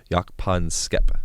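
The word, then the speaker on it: Jaak Panksepp: called yak pon skep yak pon skepa that's how you say his name um and he's he's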